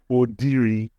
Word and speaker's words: Odiri: So the correct pronunciation is Odiri. Wow. Oh my. That's the correct pronunciation. The V is silent. Yes. And the main name, the Odiri name, it goes up and then dives down.